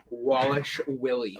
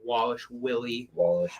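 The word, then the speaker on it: Dvalishvili: well whatever yeah mirab Wallace Willy mere one of the best last names in the UFC no no it's not you know the best name so you don't pronounce the V at all either you do not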